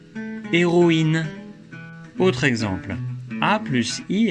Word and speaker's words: héroïne: Mais avec un tréma sur le I, on prononce OI, comme dans héroïne.